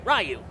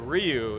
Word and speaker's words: Ryu: how it's properly said so it's one syllable it's not even reu it's more like you you oh okay so just